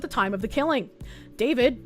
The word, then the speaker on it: D4VD: David, pronounced David, became an online musical phenomenon as a teen with a blend of indie rock, R&B, and lo-fi pop.